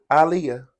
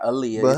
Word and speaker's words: Aaliyah: she was telling people how to pronounce her name and it's Aaliyah Muhammad Ali oh is that Aaliyah this the same way Aliah Aliah that's that's how pron her name alah okay yeah it's not Aaliyah honey your mom should